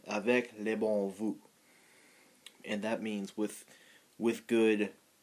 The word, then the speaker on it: Avec les bons Voeux: And I guess I don't know why they use French, but it's pronounced Avec les bons Voeux, and that means with good wishes or with good greetings in French.